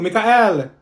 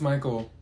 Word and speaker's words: Michael: her you mean Beatrice thank you Mikhail ma'am it's Michael okay what about slow